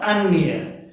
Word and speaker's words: अन्य: उच्चारण आप सही से कीजिए, अन्न और अन्य, यह, ठीक है।